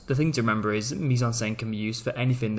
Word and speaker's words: mise-en-scène: So the proper way of spelling mise-en-scène, hence why it's got that eh sound when you pronounce it.